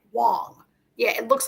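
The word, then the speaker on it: Huang: pronounced Wang right it's spelled Wang but it's pronounced W Wong yeah it looks like Wang but it's Miss Wong I think you're right they say it Wong on the show right yeah I'm saying say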